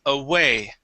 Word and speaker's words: away: Uh so this word instead of uh saying a it is a a away.